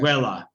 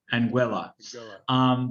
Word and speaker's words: Anguilla: I say this right, Anguilla. You know, And, something I was I was told all weekend that I was pronouncing it wrong. It actually rhymes with vanilla, so oh, okay. Anguilla. Anguilla.